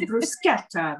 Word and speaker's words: bruschetta: I love it when you go out to eat and they correct your pronunciation. It's bruschetta, not bruschetta.